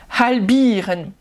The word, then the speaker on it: halbieren: Halbieren, halbieren, avec bien le ha.